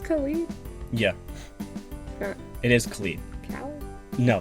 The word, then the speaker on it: Khalid: guy you're being so cringey sorry yes i'm pronouncing it right it's colleen yeah i'm sorry and what about the young